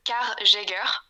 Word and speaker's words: Car Jager: boîte qui fait de car Jager ok donc car comme en anglais et Jer en allemand chasseur chasseur ok ouais désolé